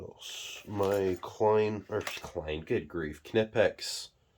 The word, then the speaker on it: Knipex: My Klein, good grief, Knipex. Yes, the K is not silent in this. This is how words should be pronounced.